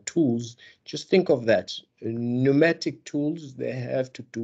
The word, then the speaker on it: pneumatic: over there mnemonic and i know it starts with a p but the p is silent so what you say when you pronounce it really you say mnemonic okay so here is the pneumatic which means a tools